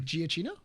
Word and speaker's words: Giacchino: you mean Giacchino? Yes, that's how you pronounce the last name.